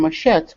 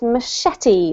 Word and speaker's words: machete: villagers the placing of a rock or a machete good on a branch tells an entire story